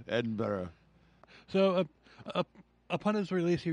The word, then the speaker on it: Edinburgh: his release he moved to edenburg and Edinburgh Edinburgh say it right you're got to piss off the Scottish people that listen to us if we don't say it right Edinburgh yeah Edinburgh so upon his release